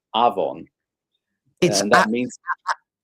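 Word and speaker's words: afon: in Welsh uh it's avon and that means avon avon but not avon but aon av V O N. But still Yeah, it's pronounced like a V.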